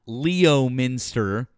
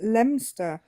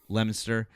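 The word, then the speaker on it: Leominster: Uh, number one, I know how to pronounce Lemonster. Uh, not Leo Minster like some of you. We pronounce it. We pronounce it Lemster.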